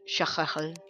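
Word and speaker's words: Cthulhu: health, 200 mana, I defeated the Eye of Tutuplu, and that world is pretty... Okay, I'm being told it's pronounced Shachachal.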